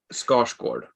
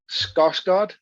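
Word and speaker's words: Skarsgård: ignorance of other languages, but it's the correct pronunciation is Scotch Gord. Okay, I'm going to try it. Scotch god. That's pretty good. Hey. Hey Mark, you're 10. Scosgard.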